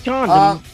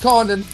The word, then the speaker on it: Condon: Thought it was Condon. No, it's Condon.